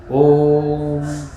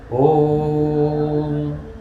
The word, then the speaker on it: ओम: और जिसमें तीन संख्या नहीं है वो दीर्घ उच्चारण है। ओम ये दीर्घ उच्चारण है। ओम यह प्लुत उच्चारण ये दोनों ठीक से